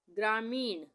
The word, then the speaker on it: ग्रामीण: ग्रामीण, ग्रामीण, यहाँ पे ग में ये पदेन की मात्रा लगी है र के उच्चारण के लिए, आधे र के उच्चारण के लिए, ग्रा हो गया, ये आ की मात्रा लगी, ग्रामीण, ग्रामीण।